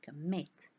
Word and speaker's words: commit: double the final consonant like commit meeted here stress is on the second syllable we say commit meet is stressed control